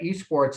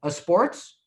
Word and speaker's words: esports: guy was looking at esports and he said so how do you pronounce that a sports or i said well no that's esports he said what's esports